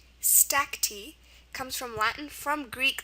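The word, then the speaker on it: stacte: It's pronounced stacki. Stacky comes from Latin from Greek.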